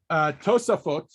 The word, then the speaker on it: Tosafot: In my opinion, the reason, how do you pronounce it? So Tosafot is the commentary that we Tosafot.